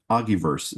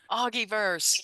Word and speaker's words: Augiverse: Um and uh Augiverse is the name. Think of it as a metaverse, but Augiverse. Augiverse.